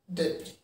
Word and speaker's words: debris: Debris. And the sound of the word is debris. Here we have two syllables. Day, then pre.